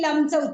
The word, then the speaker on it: लं: आणि लमचं उच्चारण करा. ल वर अनुस्वार.